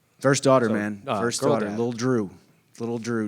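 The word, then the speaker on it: Dru: little Drew. Little Drew, D-R-U, 3 letters, 1 syllable, just like Happen Ace.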